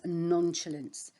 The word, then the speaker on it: nonchalance: So the next word that we've got here to look at is nonchalance. Nonchalance, that's how you say it.